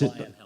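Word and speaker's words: Leyonhjelm: They have a senator whose name I can never pronounce. Lionhelm. Thank you for saying that, Dave. David Lionhelm. David, I remember. Lionhelmer.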